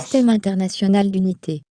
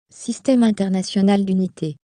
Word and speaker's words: Système international d'unité: this is the actual way to pronounce Système international d'unité. what she said here. Okay, what is it? Système international d'unité.